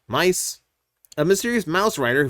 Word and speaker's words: My-Th: Uh see, Kamen Rider Miss uh Mice pronounced Mice.